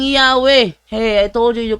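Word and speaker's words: Yahweh: 195 nakalagay talaga doon while inclining to view the pronunciation yahwe as the more correct way we have retained the form Jehovah because of the people's familiarity with it since the 14th century so more correct way ang yahwe Hey I told you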